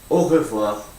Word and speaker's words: au revoir: Be careful you don't say this too fast, otherwise you'll miss out letters like I do. Because when I say au revoir, now I tend to say au revoir, au revoir.